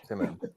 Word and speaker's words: Tim'm: So when people try to call me Tim or, I said, no, it's okay. You can say my name. You can stutter. It's okay. Timim.